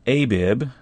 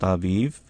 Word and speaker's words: Aviv: In chapter 16, very first verse, it says, "Observe the month of Abib," actually pronounced Aviv, "and keep the Passover unto Yahweh your Elohim. For in the month of Aviv, Yahweh your Elohim brought you out of Egypt by night."